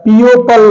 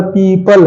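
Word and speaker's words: people: combination में आए हैं तो यहां पर ओ साइलेंट होके पीपल हो गया पीओ पल नहीं है पीओ पल नहीं है यहां पर पीपल है पीपल मतलब लोग ओके अगला है एल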